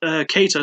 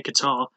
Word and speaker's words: Kattar: rounds but it's odd cater sorry I have to keep reminding myself not to say Qatar even though it probably should be pronounced that way names in the UFC